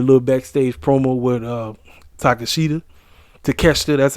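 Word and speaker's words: Takeshita: we had a little backstage promo with uh takashita to catch there that's how you say his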